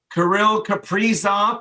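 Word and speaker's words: Kirill Kaprizov: of top end candidates karil caprizzo that's how he wants his name pronounced wow okay off the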